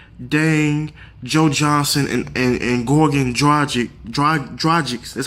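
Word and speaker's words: Dragić: The Heat, on paper, they look stacked with Wade, Whiteside, Dang, Joe Johnson, and Goran Dragic.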